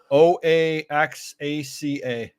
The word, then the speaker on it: Oaxaca: Oaxaca.